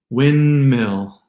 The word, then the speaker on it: windmill: And then we get even 2-syllable words like depends, windshield, windmill, handsome, Lindsay, the name Lindsay, and bandwidth, bandwidth. No D in those words.